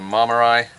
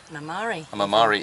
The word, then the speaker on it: Marmari: Yeah, first stop to Sunion, then to Porto Rafti, and then to Marmarai. Mamari even. Yeah. Sorry if I'm ruining the Greek pronunciation of all your beautiful little towns and villages.